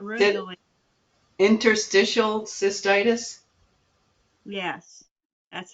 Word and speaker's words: interstitial cystitis: heard of it me neither um not really Interstitial cystitis yes that's how you say it yeah it's